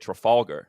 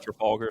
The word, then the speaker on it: Trafalgar: Trafalgar. There. Did I say that right? That's a Trafalgar Square in London.